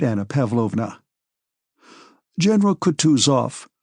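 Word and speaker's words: Kutuzov: General Coutus off, said Boonsky, speaking French and stressing the last syllable of the general's name like a Frenchman has been pleased to take me as an aid to camp.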